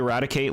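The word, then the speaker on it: Raticate: You say Radicate like Ratty and Kate.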